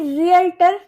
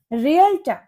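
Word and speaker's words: realtor: Next word है हमारा रियल्टर यह रियलर नहीं होता। इसकी करेक्ट प्रोनंसिएशन होती है रियल्टर।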